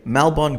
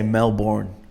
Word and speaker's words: Melbourne: I got to say Melbourne golf I at first I thought it was like how Americans say Melborne like they can't say melbour they say Melbourne and no offense to